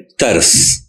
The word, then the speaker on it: ترس: معنی بھی مختلف ہیں۔ فارسی کا لفظ ہے ترس، یعنی تے پر زبر ہے اور رے ساکن ہے۔ اس کے معنی ہے